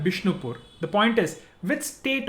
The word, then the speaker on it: Bishnupur: Bengali language is such where the V sound becomes B.